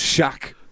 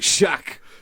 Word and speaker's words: SHAKK: But with yours, it's just SHAKK. It's just one syllable. Do you know what I mean? Like SHAKK. SHAKK. Like, do you know what I mean? Double K.